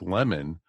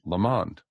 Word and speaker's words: Lamond: make as much sense it really looks like lemon but with a d at the end again we say it's so that it rhymes with the and meters with the pond so it's lamond yeah like I've been